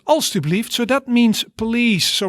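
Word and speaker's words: alstublieft: pronunciation of it so you see it has three syllables als to believed right also believed so that means police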